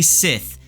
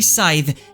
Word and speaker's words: Scythe: out that rafis says the correct pronunciation for Scythe is actually Sith uh can I pronounce